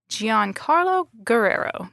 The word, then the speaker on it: Giancarlo Guerrero: I'm and I have my colleague Grace Holm with me today and we are interviewing Gian Carlo Guerrero. Did I pronounce that correctly?